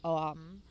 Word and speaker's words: Om: And later on, I had looked up the definition for Om, and it's 3 syllables, OHM, like Om.